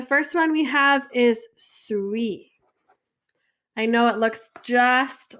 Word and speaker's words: suis: So je suis, it's pronounced like suis, like sweet without the T.